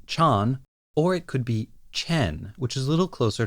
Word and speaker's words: Chan: Chan that is interesting I had noticed that in the movie Amo says it more like Chen on my part just out of force of habit based on the way it's spelled in English I have been calling this character Chan for a really long time it's going to be pretty hard for me to switch over to the more correct Chen we might just be